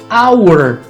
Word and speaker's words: hour: ar escapando tá aos ainda outra possibilidade do som do h&o som de nada como hour ou em neighbor o